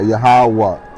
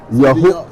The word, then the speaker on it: Yahawah: How do you spell it? Yahawah? Yeah, so YAHAWAH. A between the H. Okay, yeah, Yahawah and an H.